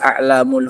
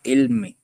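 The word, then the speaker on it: أعلام: Dan di antara mereka juga ada alamul huda. Ala jamu alam bukan jamak ilmi. Bukan ilm itu bacanya tapi alam. Lamnya di fathah.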